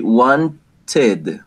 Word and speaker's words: wanted: Every time the final pronunciation of a regular verb is T or D, right? T or D, the pronunciation is going to be id. Id. And this one is going to sound like an extra syllable, right? So it's going to be wanted, wanted, id. No ed, no id.